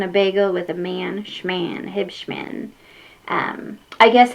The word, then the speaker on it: Huebschman: Yes, for some reason it's pronounced Hibmen. Um Hib like I drink Mr. Pib.